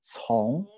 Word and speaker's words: 从: We pronounce it 从.